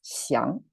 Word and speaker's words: 降: Last time it's 将, right? 机一昂将. But this time it's 降. Both the tone and the pronunciation changed. Same writing though, and the meaning changed too.